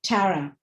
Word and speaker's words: Tara: how would you pronounce your first name i pronounce it tara but many people pronoun however they pronounce it